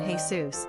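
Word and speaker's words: Jesús: However, Jesus as a given name is distinct to Spanish-speaking cultures and usually rendered with an accented "u" as in "Hey Sous" and is pronounced "Hey S.O.S."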